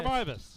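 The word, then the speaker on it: Meiwes: Tucker Mivas.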